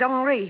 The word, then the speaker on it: Henri: This is Henry Vibar. He pronounces it Henri.